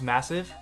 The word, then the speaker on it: MSSV: the boost headphones by massive so these are the boots headphones by massive and yes it is pronounced massive as it says so right here on the box and they are over